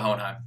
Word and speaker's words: Hohenheim: i want that off hold on time what about hohenheim that's what i'm asking that's how you say